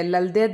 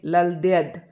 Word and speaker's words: ललद्यद: या ऐसे होता है तो यह ललद्यद मैंने अभी लिखा था ल ल और यह वाला द और द तो इसको जब हम लल और द और यह ललद्यद इस तरीके से हम इसका उच्चारण करेंगे तो आपको यह ध्यान